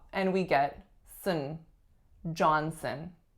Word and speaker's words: Johnson: John Sun we reduced that second syllable to schwa and we get some Johnson Johnson next up Williams Williams